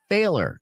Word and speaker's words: Fehler: She always calls me her little failer. It's spelled like Fehler.